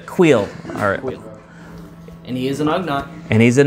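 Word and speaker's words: Kuiil: It's either Quill or Queel. I think the last one. It's in between, but it's the last one you just said. Yeah, it's Quill.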